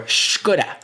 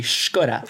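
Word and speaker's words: Škoda: Robert says the letter S is read sh as in sheep or Skoda. I thought Skoda was just pronounced Skoda.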